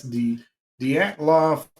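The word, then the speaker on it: Dyatlov: a t l oov and that's D de LOF pass is what it would be the de pass incident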